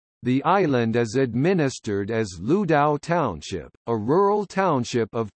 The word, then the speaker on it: Lüdao: It is also known as Ludao or Lu Dao from the pinyin romanization of the name's Mandarin pronunciation, as Lu Dao from its Wade Giles romanization, and as from its Hokkien pronunciation.